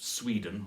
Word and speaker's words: Sweden: You could make it Sweden or Norway, stressed on the first syllable there.